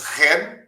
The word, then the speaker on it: Shen: deu o cartão disse-me o meu nome é ran escreve-se Shen mas pronuncia-se ren como a empresa pública ren ah V lá que